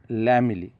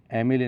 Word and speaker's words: lamellae: हा शब्द चुकलेला, गिल लॅमेली, ॲमेली नाही, गिल लॅमेली.